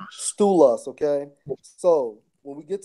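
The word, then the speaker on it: στῦλος: pillars in a Greek it Strong's G 4769 pronounced as stool us stool us okay so when we get to the point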